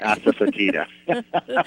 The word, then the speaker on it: asafoetida: Asafoetida.